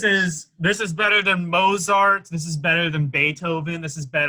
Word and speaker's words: Mozart: I know it's spelled that way, but it's pronounced Mozart. Where the fuck is the T in Mozart?